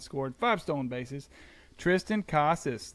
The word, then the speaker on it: Casas: five Stone bases Tristan Casas learned how to say his name not Casas Casas we're back baby dog